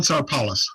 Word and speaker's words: Sarpelis: I believe his last name is just pronounced Sarpelis. But here's an example of, I think, not great audio from. Yeah. Hi, Dave. This is John Sarpelis, host of the Commonwealthy podcast.